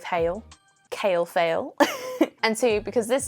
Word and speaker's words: Hale: One, because kale rhymes with Hale.